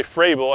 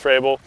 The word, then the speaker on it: Frabill: one is made by by fray below at least I believe it's called it's pronounced for Abel they have a lot